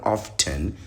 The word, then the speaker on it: often: You don't pronounce the T in often. Who does that? Who educated you people, man? It's not often.